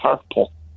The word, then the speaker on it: hirple: There's a good Scottish word that rhymes with purple, which is hirple.